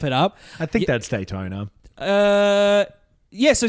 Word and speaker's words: Daytona: did you pronounce it Daytona I believe it's pronounced Daytona thank you oh yeah I don't remember if